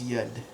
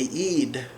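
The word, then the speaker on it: يد: So in some of the dialects, instead of saying yud, they'll say eid. So we'll do like a long E sound, eid, for hand.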